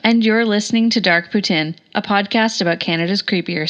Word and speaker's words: poutine: notes and Kyla pronounced Putin correct L as there these folks are fellow Canadians I happen to be a lazy fellow Canadian who just pronounce it the English way poutine and that brings us